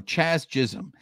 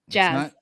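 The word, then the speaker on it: Jazz Chisholm: But some of these players that come up on this poll, you know, Chaz Chisholm, Anthony Rendon. Nope. Say his name again. Jazz. You said Chaz Chisholm.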